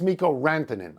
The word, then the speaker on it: Mikko Rantanen: First of all, I said it's Mikko Rantanen. Okay, I got the name wrong.